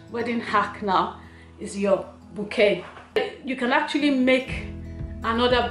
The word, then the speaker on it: bouquet: And yes, that's how it's spelled, but it's not pronounced bouquet, it's pronounced bouquet.